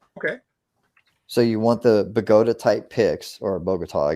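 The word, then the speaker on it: Bogota: of lockpick called a Boda pick b o g o ta like the U bogot Columbia okay so you want the bagota type pcks or bogot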